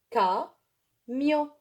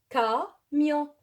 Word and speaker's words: camion: Je répète, C avec A, elle se prononce K. Elle se prononce K. Je veux donner un exemple. Camion. Camion. Camion. On dit en arabe camion. Alors, K, vous voyez K.